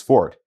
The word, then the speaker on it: forte: on our list today is fort and its tricky pronunciation as well as its more familiar italian homograph forte borrowed from french fong and originally denoting the